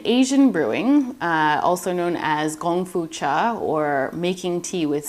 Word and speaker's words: gongfu: In Asian brewing, also known as gongfu cha or making tea with skill, by the way, gongfu can also be pronounced kung fu.